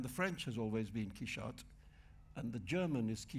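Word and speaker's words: Quixote: rest of it and you say look forget it it's key shot so can we no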